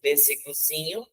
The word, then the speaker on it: pêssegozinho: Pêssegozinho, não, o zinho, o zi, que é a sílaba tônica, tá?